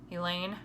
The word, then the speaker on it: Elaine: let it be her Elaine rhymes with pain I'll probably never find